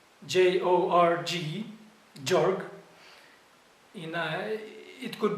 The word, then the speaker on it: Gjorg: the name to the to his first name jorg let me spell it g j o r g jorg you know it could be related it